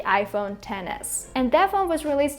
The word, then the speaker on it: iPhone XS: my previous phone the iPhone XS or I guess the correct way to pronounce it is the iPhone 10s and that phone was